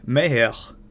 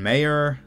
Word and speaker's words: Mayer: Kevin Meyer, that's my mint French pronunciation of a man who you might call Kevin Mayer, spelled like John Mayer.